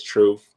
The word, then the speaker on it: Truf: you for that introduction my name is truth I spell it t Ruf and I'm a hip